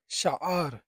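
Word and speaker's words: شعر: শাআর, শাআর অর্থ হচ্ছে চুল। এখানে দেখেন শাহ আর, এটা হচ্ছে আইনের উচ্চারণ।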